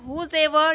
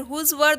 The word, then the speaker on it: whosever: Friends, आप whosever का pronunciation whosever या फिर whosever दोनों ही तरीके से कर सकते हो।